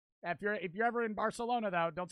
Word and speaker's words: Barcelona: I know in most Spanish countries, a C is just a C, right? But in it's Barcelona. Barcelona. Like the C is a TH, right?